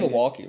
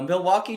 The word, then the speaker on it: Milwaukee: You don't pronounce the L.